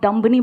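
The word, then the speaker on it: dumb: पता भी नहीं चलेगा नेक्स्ट टाइम आप दुम्बानी बोलोगे आप दम बोलोगे क्योंकि 20 साइलेंट है समझ रहे हो ये मेरे लिए नई बात है आप का रहे हो डंप नहीं होता है दम होता है ऐसे कई सारे वर्ड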